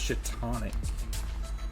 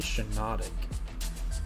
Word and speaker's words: Shiinotic: like Pokemon names, but a lot of people say it's Shitonic. And every time they say that, I look it up, and it's definitely Shiinotic. Or at least the N is before the T.